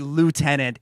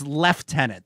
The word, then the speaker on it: lieutenant: also keep hearing Lieutenant there's no F in that word what are you doing that is that is the correct pronunciation of that word you Americans you Americans have perverted it to be Lieutenant it's Lieutenant that is how oh let